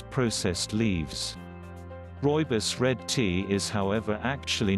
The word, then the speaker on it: rooibos: rooibos pronounced rooibos tea Afrikaans for Redbush tea